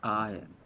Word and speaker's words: iron: There R is not pronounced. It's silent.